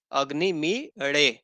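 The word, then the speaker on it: अग्निमीळे: ना वो क्या है अग्नि मेड अग्नि मीडिया ऐसा बोलेंगे अग्नि मिले नहीं इसको बोलेंगे अग्नि मी अड अग्नि बोलना है ना आपको ना बोलना है इसका उच्चारण होता है तो इन यह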